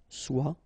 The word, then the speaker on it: soit: Okay, then of course être and avoir, so être will become soit, remember final S is not pronounced, soit, then soyons, soyez, all